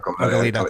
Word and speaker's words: Goleta: Goleta's a suburb. Goleta. It should be pronounced Goleta.